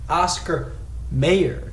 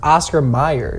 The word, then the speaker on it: Oscar Mayer: minute oscar meyer and you don't even pronounce it oscar mayer it's still pronounced oscar meyer so why would you think that it's oscar mayer scott i don't think it's mayor it's meyer it was always m-e-y-e-r you just can are